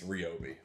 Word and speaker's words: Ryobi: Electric mower made by a company I like to call Ryobi. And I called the customer service line, and there was automated recordings all through that thing that told me it's Ryobi.